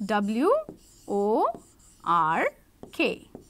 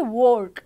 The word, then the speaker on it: work: or all right now when this W comes in before these o the sound will not be or or the sound will be R okay this is so interesting like w o r k all right then the sound will be R we will not say work we will say work because there's a w there okay w o r